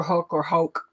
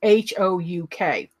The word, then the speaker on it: Ned Houk: My husband and I do this walk out at a park called Ned Houk, or Hoke. I've heard it pronounced several different ways. It's Houk.